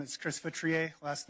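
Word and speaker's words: Feutrier: Hi, my name is Chris Vestri. Last name is spelled F as in Frank E U T as in Tom R I E R.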